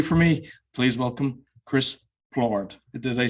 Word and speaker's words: Plourde: Today my guest, up early for me, please welcome Chris Flohr.